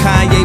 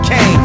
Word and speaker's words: Kanye: Now all I need is y'all to pronounce my name is Kanye, but some of my plastic still say Kane.